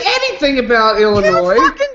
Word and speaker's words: Illinois: didn't say anything about illinois freaking didn't do the silent s what the [ __